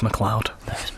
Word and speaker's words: McLeod: Lewis McLeod. Lewis McLeod. Rangers legend. It's spelled like McLeod. Yeah, it is. So it's not like clouds in the sky.